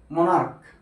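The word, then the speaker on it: monarch: এরকম একটা ওয়ার্ড হচ্ছে মনার্ক হ্যা এম ও এন এ আর সি এইচ মনার্ক মোনাার্ক মানে কি রাজা তাহলে এখানে আছে সি এইচ কিন্তু সি এইচ এর উচ্চারণটা এখানে কিসের মত ক এর মত আর এখানে কিসের মত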